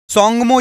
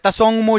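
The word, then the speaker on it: Tsomgo: इसमें आपसे पूछा गया है कि सोंगमो झील या तसोंगमो झील, ता साइलेंट होता है, ता साइलेंट होता है, तसोंगमो झील या सोंगमो झील कहां पर स्थित है, किस राज्य में स्थित है?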